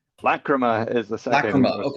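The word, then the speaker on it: Lachryma: has a video, which is how do you pronounce it? Lachrima? Lacrima is the second Lacrima.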